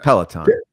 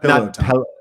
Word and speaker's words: Peloton: Peloton. Yeah. Okay. Not pillow time.